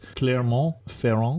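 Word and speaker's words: Clermont-Ferrand: name of the capital because unfortunately we don't pronounce it so it's Claremont feron exactly Yeah okay or if we're spelling it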